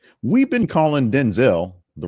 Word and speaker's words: Denzel: So he is Denzel, not Denzel. Washington said he doesn't mind either version, just want to set the record straight.